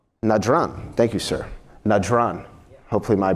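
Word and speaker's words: Najran: revolves around a group called the Christians of nadram nadron thank you sir najron hopefully my pronunciation is a little better all that Arabic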